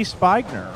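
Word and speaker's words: Spinger: on Facebook okay so Barb says it's SP p i n g e r with a long I so that would be spner right oh I've B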